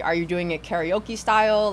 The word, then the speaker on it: karaoke: I've Americanized my pronunciation of karaoke, but it's karaoke.